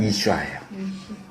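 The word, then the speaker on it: אִשָּׁה: 이제 히브리어 워드플레이가 나오는데 남자는 이씨예요 히브리요 이씨 여자는 이슈아예요 발음만 모음만 달라요 욕하는 거 아니고요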